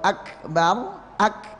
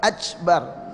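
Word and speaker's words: أَكْبَر: Seperti kita baca takbir Allahu Akbar, jadi dia nempel dulu dengan kuat, baru bergeser nah jadi bacanya pas begitu. Jadi makhraj itu nempel dulu dengan kuat, ya. Jadi bukan ya. Apalagi bacanya ajbar ya. Jadi C gitu ya, ajbar, udah jauh sekali ya.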